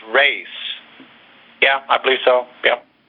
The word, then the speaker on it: res: Christian, I think I heard somebody say that res, R-E-S, is actually pronounced race.